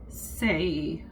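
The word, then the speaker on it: César: Caesar in English. It's pronounced Cesar in Spanish, with the emphasis on the second syllable.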